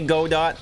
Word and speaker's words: Godot: A lot of people say go dot. A lot of people say Godot.